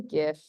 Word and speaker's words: GIF: so cute that's a gift I call it a gif uh so gifts stand for a graphics interchange format and Graphics has a hard G so therefore it is gift um but each to